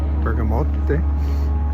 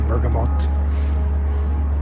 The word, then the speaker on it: bergamot: went to the burgo Bergamot I always call it bergam you pronounce the tea bergamote it smells so good